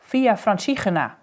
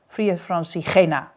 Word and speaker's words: Via Francigena: Francigena, you must know I pronounce it Via Francigena, with a harsh ch from our throat as we pronounce this letter in the Netherlands, and the emphasis on the G part, Via Francigena.